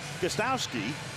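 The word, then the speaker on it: Gostkowski: first super bowl titles steven gustowski will do the kicking that first k is silent he was their fourth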